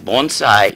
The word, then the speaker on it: bonsai: Okay, first of all, it's not bonsai, like I say it. How is it pronounced? Bonsai. Bonsai. And the literal translation is tree.